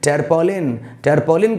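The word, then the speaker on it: tarpaulin: ए आर टी ए यू एल आई एन terpaulin कहना है uskolen नकी triple एक शब्द आता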